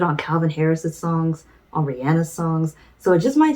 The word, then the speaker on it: Rihanna: Some of y'all may pronounce her name as Rihanna, but I just found out recently it's Rihanna.